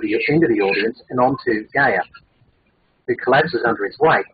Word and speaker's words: Gaia: I don't know how to pronounce this name, G-A-I-A.